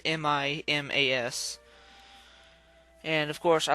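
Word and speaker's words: Mimas: out saturn has a moon named me miss I think that's how I think that's how you pronounce that it's mi mas and of course I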